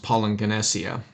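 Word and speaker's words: παλιγγενεσία: two G's together but when you have a double gamma in the Greek it makes an NG sound and so it's pronounced poing ganesia and According to badag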